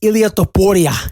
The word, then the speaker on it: Ilia Topuria: Why are you pronouncing his name Hispanic? He's from Georgia. Because it's Ilia Topuria.